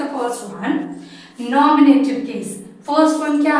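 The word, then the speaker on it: nominative: सी the first one नॉमिनेटिव case. First one क्या है? नॉमिनेटिव। इसको नॉमिनेटिव नहीं प्रोनाउंस करते हैं। Don't pronounce नेटिव नॉट। ये नेटिव नहीं इसको नॉमिनेटिव। यहां ए इसको स्लाइंगली प्रोनाउंस करना।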